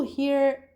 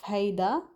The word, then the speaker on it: هيدا: For example, if you're talking about هيدا, certain people drop the last part of هيدا, so it becomes he alone, he.